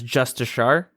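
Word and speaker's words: Justiciar: They made the Justicar, I believe they're pronouncing it, the Jmods, as Justishar. The leg guards have had the lower section of the cloth removed, so it doesn't look as skirty.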